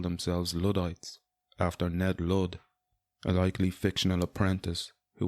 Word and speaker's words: Ludd: general, and eventually King Ludd, a legendary figure. And I'm sure it's no coincidence his name rhymes with Hood, as in Robin Hood.